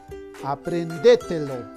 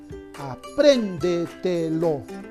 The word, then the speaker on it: apréndetelo: Aprendételo. Aprendételo. No, tampoco. Sobre esdrújula, a ver, vamos a ver. Apréndetelo. Apréndetelo. Ya. La mayor fuerza de voz está en la sílaba pren.